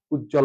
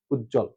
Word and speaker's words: উজ্জ্বল: এর বদ যুক্ত থাকে সে ব ফলা সেক্ষেত্রে সে ব এর উচ্চারণ থাকে না অথবা শুরুতে যদি কোন